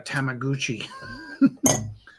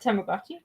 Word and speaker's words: Tamagotchi: I got my first digital camera like the resolution was kind of like that of a Tamaguchi. Is that the right way to say it? Tamagotchi.